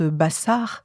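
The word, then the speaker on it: basar: souvent hein de cette chair qui se prononce Bassar et qui est si proche de Basser l'information.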